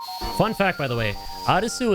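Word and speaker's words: アリス: Fun fact, by the way, Arisu is how you say Alice in uh Japanese. You want to say the name Alice? It's Arisu.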